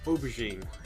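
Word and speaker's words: aubergine: That is pronounced oberine.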